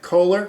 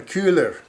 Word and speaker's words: Köhler: He's calling him Kohler, which is how you would pronounce the name in English. That's correct. However, actually, his real name is German, Köhler.